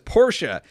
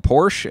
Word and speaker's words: Porsche: It says Porsche is 2 syllables.